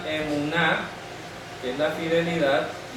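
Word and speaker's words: אמונה: al m nun al m nun esto se pronuncia emuná que es la fidelidad y aquí tenemos Amén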